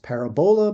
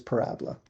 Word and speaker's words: parabola: It looks as though it's pronounced parabola, but it is parabola.